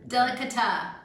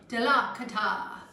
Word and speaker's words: delicata: All right, confirmation from the cameraman, delicata. Did I say it right? Confirmed. Delicata.